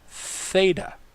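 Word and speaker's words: θῆτα: sound as in next letter is theta theta has a th sound to it the following letter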